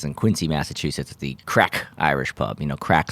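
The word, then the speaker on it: craic: american to know that that word is pronounced crack and uh anyway you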